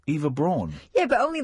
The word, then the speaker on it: Braun: Isn't it Brown? No, it's Braun. Don't you pronounce it Brown?